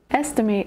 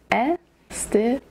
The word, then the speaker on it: estimate: Estimate has three syllables. Estimate. The emphasis is on the first syllable.